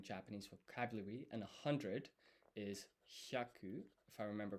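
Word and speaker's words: ひゃ: And so this hi and ya forms one blended syllable called hya, hya.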